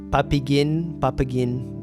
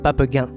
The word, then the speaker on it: Papeghin: Yeah, I often hear like Papeghin, but it's actually pronounced Papeghin.